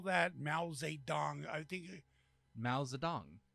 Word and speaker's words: Mao Zedong: Mao Zedong. I think. Mao Zedong. How do you spell it? Maozedong. Mao Zedong.